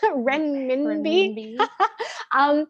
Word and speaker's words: renminbi: in fact one-to-one with when I can never pronounce that it's renminbi so even they're not I mean can we